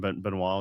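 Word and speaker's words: Benoit: Ben Benois with the T is silent.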